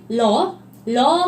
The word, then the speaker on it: RAU: 뉴스킨 러 마룰라 로우 뷰티 오일이 되겠습니다. 이름이 굉장히 길죠. 자, 앞서 제가 RAU 뭐라고 읽는다고 말씀드렸죠? 러.